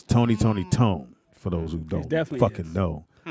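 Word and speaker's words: Tony! Toni! Toné!: say even though you from oakland is actually pronounced tony tony tone oakland said no it's pronounced tone but it's not it's tony tony tone for those who don't know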